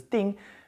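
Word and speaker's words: 订: And what this character means now, the whole character pronounced as ding means to reserve or to book something.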